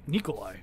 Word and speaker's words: Nikolai: it's Eastern European so the people who know the pronunciation always call me Nikolai which is how it's actually pronounced so when people call